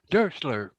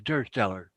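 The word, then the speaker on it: Dursteler: It's actually German, Durster. and it's pronounced Dursler. Dursler. Okay, Dursler. Okay. Thanks, Ken. I always been wondering how to pronounce that last name. But and if you go back to the German language, German hereditary more or less is it's pronounced Dursler. But I've always known it as Dursteller.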